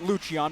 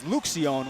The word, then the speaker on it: Luchian: Joel Luchian, he pronounces it Luchian because it's easier for people to say. As for Leandro, his brother, he says Lucion, which he claims is the correct Argentine way to say it.